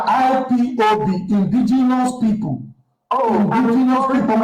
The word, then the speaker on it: IPOB: We are not IPOP. There's nothing like IPOP. Thank you very much. We are IPOB, indigenous people.